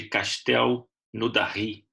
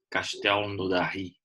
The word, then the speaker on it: Castelnaudary: Hoje a gente vai fazer um estudo do caso do espírito de Castel Naudary. É mais ou menos assim a pronúncia francesa, né? Difícil, mas é mais ou menos isso. Castel Naudary.